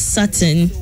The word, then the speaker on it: Sutton: Actually, it's funny because my actual name was Sutton. Sutton. But then I was told that Ghanaians wouldn't be able to like pronounce it and they would butcher it.